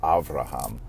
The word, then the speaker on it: Abraham: That B becomes a V, and this often happens in ancient languages. For example, even the name Abraham, sometimes in some languages pronounced Avraham. That B and that V slip around with one another.